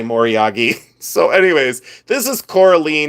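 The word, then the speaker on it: moriage: So I we always said Morage. I don't know why, but we did. So anyways, it's probably Moryagi and for you know for 30 years antique dealers have said it wrong.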